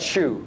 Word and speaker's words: Shu: We call that shoe. Rhymes with shoe, the things on the feet.